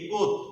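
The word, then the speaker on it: Comte: এ ইউ জি ইউ এস টি E, August C ও এম টি ই, কোত। এটা কিন্তু সি ও এম টি ই, কোত। এই এম এর উচ্চারণ কিন্তু এখানে আসতেছে না, অগাস্ট কোত।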